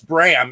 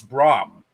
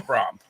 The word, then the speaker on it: Bram: off this bram stoker it's brahms stoker uh but um well uh to me everybody says it's bram it's braum it's it's pronounced and pronounced wrong in in real life i kid you not you guys are saying it like a graham cracker but it's prom but anyways uh